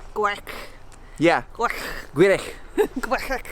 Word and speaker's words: Gwrych: Gwrych. Gwrych. Yeah. Gwrych. Gwrych. Gwrych. So in Welsh, the CH is Gwrych. Yeah, instead of ch.